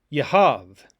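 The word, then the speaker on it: יהב: yud hey and bait the bait does not have a dagesh when it's written in this form yehav and that's why it's pronounced with a v sound he sat or he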